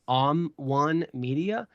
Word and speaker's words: OMN1 Media: One Media. It's spelled OMN1 Media.